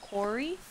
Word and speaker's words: Quarry: actresses fig it out you're supposed to pronounce it Corey English is so confusing